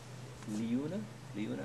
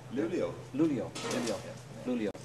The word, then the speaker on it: Luleå: one in Chalmers here, and then one in Leuna, am I pronouncing that right? Another where? University here in Sweden. What's the second one? Luia. Up north, you mean? I think so. Luleå.